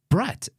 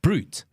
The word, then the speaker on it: Brut: both those things cuz I go no it's brght and he goes no it's pronounced honestly thought you were always joking when